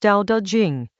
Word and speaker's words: Tao Te Ching: Tao Te Ching, pronounced Tao Te Ching.